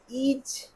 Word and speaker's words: is: ইজ, ইজ, ইট, ইটকে বলছে ইজ, না আই এস, ইজকে বলছে ইজ, মানে এস এর উচ্চারণ জেড এর মতো বেরোচ্ছে, ইজ।